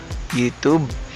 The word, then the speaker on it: YouTube: Una nyo pong gagawin is buksan nyo po yung YouTube channel nyo. No? Tapos po, click nyo po itong YouTube Studio. Pasensya na, no? Nasanay tayo na YouTube yung tawag, pero YouTube po talaga yung tamang pronunciation.